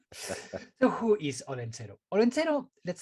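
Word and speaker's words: Olentzero: have a different tradition and it's called el holencero wait wait wait yup o-l-e-n-t-x-e-r-o orlando i'm shocked that you could spell that word i haven't read it down here okay all right so who is odenzero let's say it's the basque santa claus we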